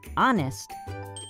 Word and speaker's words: honest: too check these out in this word honest we do not pronounce the h at the beginning in the word ghost